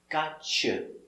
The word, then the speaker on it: gotcha: With a T, with a Y sound, the y, t, together, ch, gotcha, gotcha.